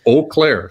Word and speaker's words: Eau Claire: there but it's uh it's eau claire so make sure you say it right they get very is it spelled is that why it's spelled e-a-u yeah it's weird it's wisconsin oh like in bow or uh you right something like that but anyway um yeah